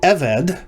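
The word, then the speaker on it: עֶבֶד: a vocal shava so evade becoming meaning a servant because if you attach the conjunction vav then you have the conjunction then you have the evade or evad if you use the older pronunciation and a servant isha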